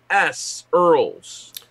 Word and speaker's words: Earls: 72 is Earls, E-A-R-L-S, Earls. Congratulations, Earls. And that's pronounced correctly, thank you.